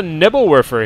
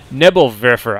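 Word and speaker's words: Nebelwerfer: we do have a nebble wer here H sorry nebble verer I was corrected on my pronunciation of that and I should try to be a little bit better so uh nebble verer for those of you who are not aware in German that means uh fog thrower or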